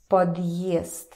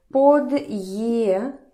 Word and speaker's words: подъезд: Подъезд. Okay, подъезд. If there was no hard sign, it would sound like подъезд. Подъезд.